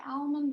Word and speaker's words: almond: almonds do you say almond or almonds which one are you missing i say almond like the l is silent so we start off